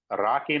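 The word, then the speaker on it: RoCE: x8m the networking infinite band was replaced with Rocky networking technology R pronounced as it is it stands for RDMA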